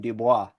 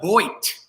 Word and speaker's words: Boit: I assumed you were French because of your very French-sounding name, Dubois. Yep. It's pronounced Boit.